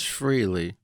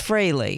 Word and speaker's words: Frehley: different ways by people well there's actually three oh what's a third there's Frehley and then this Frehley and then this freely right but it's Frehley but I freely admit